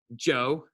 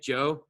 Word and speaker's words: Zhou: So do not mispronounce Shang, Zhou, hard J, Zhou, Qin, like the thing that's on the bottom of your face, and Han.